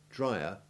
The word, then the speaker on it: drier: comparative and superlative forms have the distinct vowel sounds drier and driest the e in dryer having the short e2 iv sound but that of driest usually having short e3 listen again drier driest